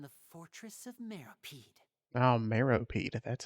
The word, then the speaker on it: Meropide: Oh, Meropide.